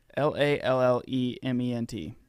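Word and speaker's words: Lallemant: Lallement. Okay. Lelement.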